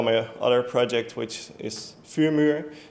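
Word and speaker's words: Vuurmuur: Some people may know my other project, which is Fumur. It's a firewall front end for IP tables. But most people pronounce it as Fumur, which is mostly the English speaking people.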